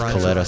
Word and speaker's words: Coletta: the time named Beretta, and Beretta rhymes with Coletta, so Cornelius Beretta.